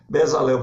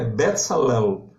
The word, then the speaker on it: Bezalel: Bezalel, por exemplo, é Betzalel, né? Betzalel, o falante de hebraico, ele salienta bastante esses L's finais, né?